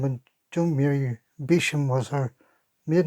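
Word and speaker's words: Beauchamp: married to Joan Mary Bisham which is a funny way of pronouncing B E A U C H A M P which means beautiful field Bisham according to Jana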